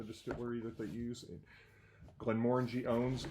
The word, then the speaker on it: Glenmorangie: the pronunciation also is the emphasis is supposed to be on the second syllable Glenmorangie not Glenmorangie or something else so